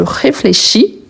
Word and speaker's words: réfléchis: Et ici, il faut ajouter le S à la fin. Ce n'est pas parce qu'il n'est pas prononcé que je dois le supprimer. Il est supprimé à l'oral, mais à l'écrit, il est toujours là. Donc, je réfléchis, tu réfléchis.